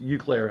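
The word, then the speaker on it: Eau Claire: Is it Euclair? Yeah, EAU? yeah, Euclair. Okay, yeah, just Euclair, I think is what it is.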